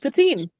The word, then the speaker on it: poutine: You said it. Poutine. That's the French version of it. Poutine.